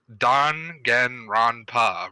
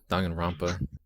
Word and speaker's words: Danganronpa: I know it's Danganronpa, right? That's how it's pronounced. Danganronpa.